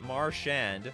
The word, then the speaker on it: Marchand: It's pronounced Marchand. Ah, you know, it sounds French in my opinion.